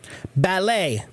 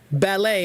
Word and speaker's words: ballet: it for me yeah ballet ballet it's a French word yeah ballet is a